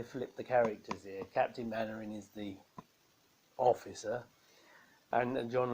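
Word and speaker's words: Mainwaring: It's spelled like that, but said Mannering.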